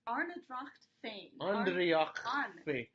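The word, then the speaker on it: Ár nDraíocht Féin: Arnedracht Andreachfain.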